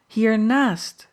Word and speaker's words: hiernaast: Hiernaast, Mijnheer, she replied with strong emphasis on the naast.